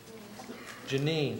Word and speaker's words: Janine: I pronounce that correctly Janine oh I'm sorry um I looked at it and assumed it was Janie when I looked back down that I saw it was Janine thank you call Janie okay